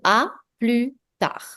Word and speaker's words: à plus tard: This one is pronounced as à plus tard. Plus is silent, tard, D is silent. So à plus tard.